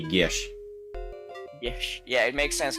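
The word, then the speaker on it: geas: incorrect to pronounce it if you were to pronounce it properly it's supposed to be Gish Gish yeah it makes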